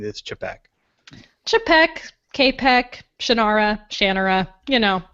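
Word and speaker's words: Čapek: that and it turns out that I've been pronouncing in my head Capek for so long and that's how I still pronounced in my head but the print proper real pronunciation is chibok chipak capek Shannara Shannara you know whatever there you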